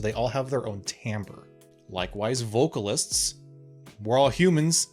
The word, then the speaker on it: timbre: you are your ends Timbre yes it is pronounced Timbre this one's very complex it's a very nuanced